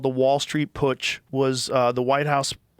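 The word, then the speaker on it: Putsch: Push. You said it right. Cuz it's a German word cuz they they had pushes in Germany.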